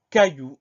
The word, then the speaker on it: caillou: Ensuite, on a le son Y. Donc, pour avoir ce son Y, on va mettre I, deux L.